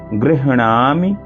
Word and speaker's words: गृह्णामि: अविघ्नं कुरु माले त्वं गृह्णामि। यहाँ देखिए गृह आधा हा है और पूरा अणा है, तो अणा बड़ा है। गृह पहले हा का उच्चारण होगा, फिर नामि, गृह्णामि दक्षिणे करे जप काले च सिद्ध्यर्थम प्रसीद मम सिद्धये।